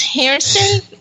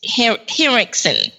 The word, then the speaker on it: Henriksen: Yep, Lance Harrison. I'm trying to pronounce his name right. Lance Henriksen.